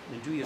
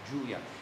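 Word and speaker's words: 'nduja: It's a wonderful taste, and the Nduja sausage is what gives it the taste.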